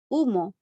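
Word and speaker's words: humo: case here we have the word umo i didn't pronounce the h umo in english is smoke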